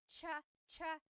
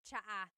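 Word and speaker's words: tsaa: There's the ts sound and then the double vowel uh pronunciation.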